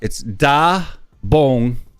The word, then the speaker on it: 따봉: And so it's da bong. What's that second syllable? Da bong. B-O-N-G. Bong. Yeah, da bong.